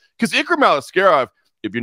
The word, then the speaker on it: Aliskerov: If Aliskerov, help me pronounce that name. Ikram Aliskerov.